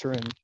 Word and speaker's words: Taurian: Taurian, am I pronouncing your name correctly? It's actually pronounced Taurian, but it's fine.